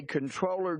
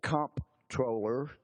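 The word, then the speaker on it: Comptroller: letter going to The Controller General of the United States some pronounce it comp troller because that's how it's spelled uh the as my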